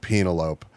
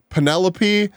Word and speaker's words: Penelope: being real because of the way that this dude pronounced Penelope. Like Penelope, my guy, you've never seen the name Penelope. No, it's got to be Penelope. You're right. It's absolutely Penelope.